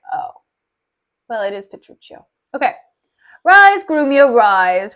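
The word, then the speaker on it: Petruchio: Italian is just like oh well it is petruccio okay rise groom your rise we will compound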